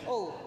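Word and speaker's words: Hull: where are you from Hall hall Hall Hall silent did I say it right there a silent h all well it's been such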